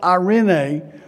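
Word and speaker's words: εἰρήνη: it starts with a knee but it's it's pronounced irenae and it's listen what this means a set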